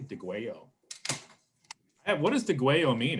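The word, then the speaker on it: Degüello: you off of digwell notice how i pronounce the double l as a y de guayo what does the gueo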